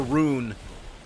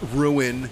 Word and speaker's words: rune: grab that ruin or rune it's pronounced Rune Glock like r-o-o-n not ruin you